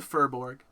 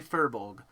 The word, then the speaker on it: furbolg: It's a furborg. That's how I pronounce it. I'm sorry. They are in this like beautiful furbolg. Better. There you go. Yes. Thank you, Will. Thank you for trying. It is a furbolg.